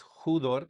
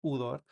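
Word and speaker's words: ὕδωρ: una u en español, como la palabra judor, porque tiene un espíritu rudo. Le ponemos la el la pronunciación de J antes, entonces es judor. Si no tuviera el espíritu rudo sería nada más udor.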